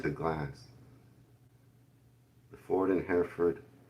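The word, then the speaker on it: Hereford: Hair foot. Hair foot. So, don't pronounce the R at all.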